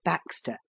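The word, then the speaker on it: backstay: without the aid of back stay pronounced Baxter a simple contrivance somewhat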